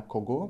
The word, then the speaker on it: кого: Actually, written для кого, pronounced для кого.